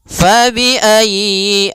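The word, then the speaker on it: فَبِأَيِّ: Ya, ini sudah kita jelaskan pada ayat ee 23 yaitu fabiayyi ya ditekan y-nya. Fabiayyi ala jangan fabiayyi a jangan dipanjangkan ya. atau ayi aa tapi tekan ya ayy fabiayyi ala kemudian pada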